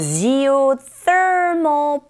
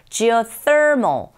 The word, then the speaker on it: geothermal: 이 TH 발음하실 때 th 요 입모양을 좀 기억하면서 발음하시면 되겠죠. Geothermal. 끝발음이 AL로 끝나는데 mol 할 때도 역시 다크 L 사운드의 현상이 일어나기 때문에 혀끝을 윗니 뒤로 이렇게 올리시면서 닿게 맞음을 하면 깻맞음을 하면 됩니다. Geothermal, mol, mol 이런 식으로 파이프라기보다는 pipe,